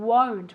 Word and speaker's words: won't: no i won't remember that pronunciation won't with a u sound okay no i won't